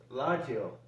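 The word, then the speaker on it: ラジオ: k key okay and radio is pronounced as laggio in japanese and television is pronounced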